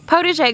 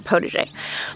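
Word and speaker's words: potager: the spelling right here because that's a french word and i am an arkansas girl uh that is how i have heard it pronounced though protege gardening it is derived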